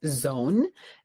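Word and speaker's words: Zown: My pick was um one which I think is pronounced as zone. Z um O W N. So like when you own something but now you zone something.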